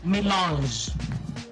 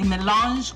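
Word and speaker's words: mélange: Milange.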